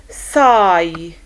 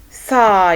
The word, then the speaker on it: sigh: Okay, like height, height, slight, slight, sigh, sigh. You see the IGH, the I takes the long I sound and the GH is silent, so sigh.